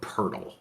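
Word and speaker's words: Poeltl: is their missing piece when I first saw his name I pronounced it the same way you do John but his name is actually pronounced jaka Purtle like I don't know how p-o-l-p-o-e-l-t-l turns into Pearl but that's that's what it's supposed to bro I'm not trying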